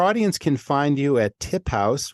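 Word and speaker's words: TipHaus: can find you at tip house which is tip but house is spelled h-a-u-s that's sort of yeah German word little it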